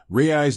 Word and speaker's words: Raiz: Rayis being phonetically similar to rays.